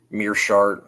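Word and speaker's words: Meerschaert: Kevin Holland and Gerald I always get his name wrong. Mirshart I believe is how you pronounce that.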